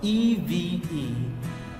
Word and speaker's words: Eve: making their e sound because e v e is sounds like what Eve Eve okay Eve like the name Adam and Eve or Christmas Eve this